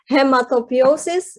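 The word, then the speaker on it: hematopoiesis: Little did I know that it's actually, so this is difficult to pronounce. It's hematopiosis, immunity, and modulation.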